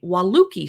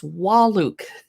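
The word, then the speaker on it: Wahluke: Ava and I've recently heard some Tasting Room employees at various tasting rooms say wuki slope it's walluk I checked to make sure I'm saying it right anyway sanio aasy I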